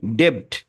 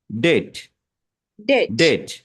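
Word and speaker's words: debt: এখানে কি হচ্ছে যে যখন এটা টি এর আগে বি থাকে তখন বিটা সাইলেন্ট য়ে তাহলে বিটা যদি সাইলেন্ট হয়ে যায় তাহলে কি হবে বিটা বাদ মনে করেন তাহলে কি হবে ডিইটি ডিইটিতে হচ্ছে কি ডেট এখানে আসলে ঠ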